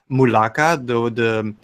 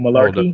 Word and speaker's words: Mulaka: Hopefully the Switch version can hold Malarkey? up. Something like that. McCall or It's something. Mulaka. He said it right.